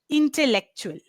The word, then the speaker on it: intellectual: L the double L and the E after that brings in an A sound. You know how we pronounce eggs, right? It is the A sound. A. Right. Yeah, it's that sound that has Intellectual. to come. Yes, It's intellectual. A instead of A.